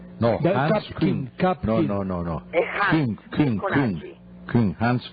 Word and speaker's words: Hans Küng: No sé si se pronuncia. Hapkin. No, Hans Küng.